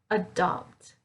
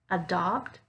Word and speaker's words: adopt: it that gentle sound adopt adopt adapt adapt adore adore for the a vowel sound i'm using the schwa adopt notice here that i'm making that d sound right like a door